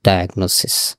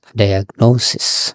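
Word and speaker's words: diagnosis: ডায়াগনোসিস, নট ডায়াগনোসিস, ডায়াগনোসিস।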